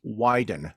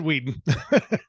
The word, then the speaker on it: Weiden: did an intro uh David heska wambly widen that's the one people yes I would I would have said Whedon yeah yeah it's it's